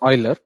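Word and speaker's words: Euler: anyone have you heard of Oiler constant it's pronounced Oiler but the spelling is e l r okay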